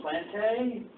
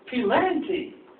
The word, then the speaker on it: Pilanti: And I go up to him after the game and say, "Hey, good game, Plante." He says, "No, dummy, it's Pilanti. P-Lanti."